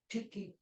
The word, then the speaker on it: Tyche: What's the right pronunciation? Tyche or Tyche? Tiki. Say it again. The Greek word is ti. Tiki? Ti. Tiki. She knows Greek.